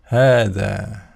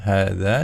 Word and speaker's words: هذا: Jadi kita tidak boleh membacanya dengan hadza gitu ya, tapi harus hadza, dua-duanya panjang.